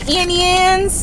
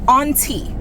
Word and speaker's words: Auntie: then I got some Auntie Ann's pretzels. I don't say Annie Ann's. I don't know why people be saying Annie Ann's. It's A-U, that's all. Auntie. Auntie, not Annie Ann's.